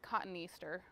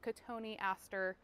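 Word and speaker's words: Cotoneaster: a uh Katon Aster I read it as cotton Easter but it's pronounced Katon Aster it's basically just like a little evergreen shrub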